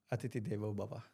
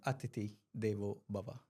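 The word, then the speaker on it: Atithi Devo Bhava: Atithi Devo Bana. I think I've pronounced this correctly, no? Atiti Devo Bhava. Say that again. Atiti Devo Bhava.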